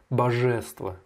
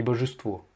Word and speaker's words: божество: Par contre, божество, tu as dit божество, божество. Non, non, non, l'accentuation est sur le O final, la dernière syllabe. Donc c'est божество, и божество.